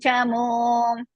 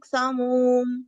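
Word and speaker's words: चमूम्: Acharya Mahating Chamum. Acharya Mahading Samum. Chamum. Samum no. Chamum. Samum.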